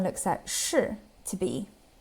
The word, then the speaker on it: 是: verb structure, so 是不是, 是不是, or by adding 吗 at the end of a statement. 是 is pronounced in the fourth tone, 是, 是.